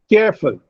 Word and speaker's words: careful: Careful, careful. There are two syllables in careful. Now, care receives greater breath force and full receives less breath force.